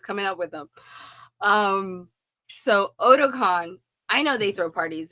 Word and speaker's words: Otakon: Then I know at Ahsoka-tan, you guys throw parties there too, right? Did I say it right? Otakon. Otakon. Otakon. I said Ahsoka-tan.